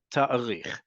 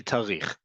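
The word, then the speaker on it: תאריך: That aleph is important to pronounce. However, in modern Hebrew, when you're just speaking fast, and you do speak fast, it's simply tarich.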